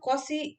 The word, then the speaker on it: Cauchy: कॉची को हम कॉसी इस तरीके से भी प्रोनाउंस करते हैं, ठीक है ना। कॉची कह सकते हैं या फिर कोसी।